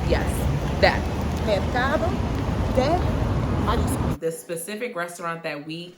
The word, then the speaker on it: Mercado de Mariscos: market, don't come for me, I'm not gonna pronounce nothing correct in Spanish. Nessa, you know how to say it? Mercado de Mariscos. Yes, that. Mercado de Mariscos.